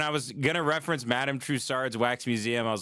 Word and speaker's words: Madame Tussauds: What did I mispronounce? When I was going to reference Madame Tussauds Wax Museum, I was like, fuck, I don't know if I got that right.